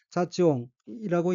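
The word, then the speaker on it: 雑音: 둘째 줄 왼편의 어휘는 한자가 한국어로 잡음이고 섞일 잡, 소리음자로 되어 있고 일본어로는 자찌옹이라고 읽으며 자찌옹은 잡음, 소음, 잡소리라는 뜻입니다.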